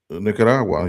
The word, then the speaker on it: Nicaragua: Nicaragua, you you said it. There you go. I rolled one R.